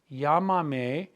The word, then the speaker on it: Llámame: Put the me on the end. Llámame. Go back 3 vowels and put your accent on the A.